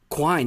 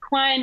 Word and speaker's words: Quine: poster and it says Quine rhymes with wine and I'll feel like